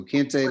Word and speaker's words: Kente: Oh yeah, Kente like the cloth. KenteScott. So Kente like the cloth, like Byron.